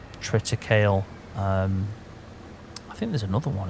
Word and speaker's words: triticale: It's triticale, or triticale, however you want to pronounce that.